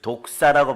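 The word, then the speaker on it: δόξα: 영광은 헬라어로 한번 가르쳐 드린 적이 있어요. 독사라고 발음해요. 독사. 따라요. 독사. 예, 그 헬라어 발음이니까 혀를 꼬아도 돼요.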